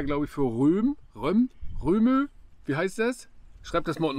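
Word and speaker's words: Rømø: Man sagt aber immer Röhmö. Die sagen Röhmö. Wird das nicht so, auch so geschrieben? Ja, geschrieben wird das so, aber ich glaube, das wird Röhm ausgesprochen.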